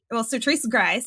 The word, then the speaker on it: Sertrice Grice: Sertrice Grice, I'm gonna get that right, how to pronounce my name.